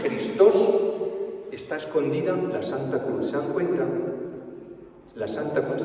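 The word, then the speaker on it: Χριστός: Fíjense que la X de Cristo en griego, Christos en griego, Christos en griego, la J, que pronuncia la X como J, Christos, está escondida la Santa Cruz.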